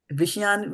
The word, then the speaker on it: viṣayān: So they have to be pronounced differently. Viṣayān will is something different. This is viṣayān. So you have to not Viṣayān. you don't have to say, Viṣayān. you don't have to say the A.